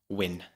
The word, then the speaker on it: Wynne: is a psychedelic composer surname win oh so it's not Edwin it's not Edwin unfortunately well if his name was Edwin win oh that would be